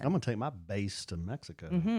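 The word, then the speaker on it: BÉIS: It's pronounced Base, but it's BEIS. Again, we'll have that in the show notes for you on the podcast, wherever you listen. I'm going to take my Base to Mexico.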